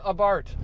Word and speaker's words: Abarth: 500 abart and yes it is pronounced abart the h is silent i've always had a